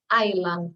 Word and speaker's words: island: Y otra cosa, Iceland, cuando hablamos de una isla decimos island, sin S. Iceland es el país, Islandia. Así que con eso tengan cuidado porque si bien lleva la S, no se tiene que pronunciar, es un error muy común eso.